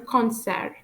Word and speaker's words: concert: And second one, un concert. Un concert, a concert. You can hear when I pronounce these two words, I don't pronounce the letters D and T.